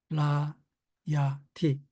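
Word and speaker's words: רַעְיָתִי: 라, 야, 티. 아이는 발음하지 않습니다. 셰바가 무거기 때문에. 그래서 라, 야, 티입니다.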